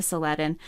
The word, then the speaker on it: Saladin: interactions between saladin and well salah adding is really the more uh better way to say his name but i think it's been anglicized to seleden um between seledon and